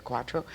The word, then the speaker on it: Quatro: real name is I was born Susan K quatro that's my real name my father is Arthur quatro but my grandfather is um on my father's